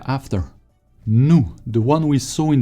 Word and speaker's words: nous: or more casual and nu without pronouncing the s at the end no or u sounds like double o in english ensemble no no